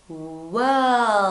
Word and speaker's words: world: Because we have, listen, we have the R and the L, and you have got to say them, okay?